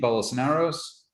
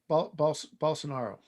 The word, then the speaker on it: Bolsonaro: is uh bamboy check how do you pronounce his name bolosnaros um bolsonaro thank you ben boyce